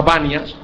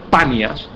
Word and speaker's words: Panias: Se llama Banias. En realidad el nombre correcto es panias, pero los árabes no pueden pronunciar la P.